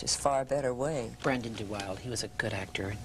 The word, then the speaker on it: DeWilde: remember, by the way, he had a different pronunciation. It was DeWilde. DeWilde.